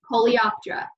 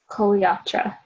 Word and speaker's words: Coleoptera: you saying them to learn how to properly pronounce it. So, Coleoptera. Coleoptera.